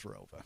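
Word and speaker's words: ROWVA: There was an additional town added after I graduated, but it's always been pronounced as Rova.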